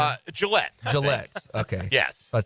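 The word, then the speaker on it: Gillotte: is how you say his last name uh Gillette Gillette okay yes about say gelot it's a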